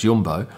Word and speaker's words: Jumbo: Now, these capes are provided by what looks like Jumbo, but I'm told it's pronounced Jumbo, which is a large supermarket chain that sponsors Max, and you would have seen their logo on his helmet.